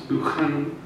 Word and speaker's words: Buchanan: professed favorite the classicist Buchanan who I'm told I have to pronounce banan but that may be a northern thing readily mixed Continental humanist